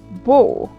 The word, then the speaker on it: beau: A, then we have e, a, u. That to be pronounced like o, like in go. Example, beau. Okay.